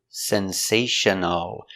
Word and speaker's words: sensational: sensation sensation oh Sensational Sensational the L is a dark L back here o Sensational Sensational Sensational four syllables the stress is on the second syllable Sensational sensational Sensational the